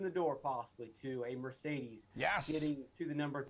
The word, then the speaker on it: Mercedes: 400 in that category mercedes love that word because there's three e's pronounced differently it's a great fun